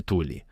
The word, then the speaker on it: Thule: E isso é focado na sociedade Thule. Já ouvi algumas pessoas pronunciarem como Thule, mas eu vou usar Thule, tudo bem.